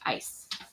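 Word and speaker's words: Eis: And ice cream is e i s spelled are pronounced ice.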